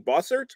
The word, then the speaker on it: Bossert: today David oh you know me and name boser boser thank you thank you you got it